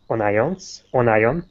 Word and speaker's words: onion: Next, cook the chopped onions. Listen, onions. Just a quick note about pronunciation.